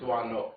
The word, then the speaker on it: Doisneau: I'm pretty sure about, because I asked several French students in my classes, teaching photo classes, the proper pronunciation, because I've heard it all kinds of ways by American lecturers. I'm pretty sure it's Doisneau.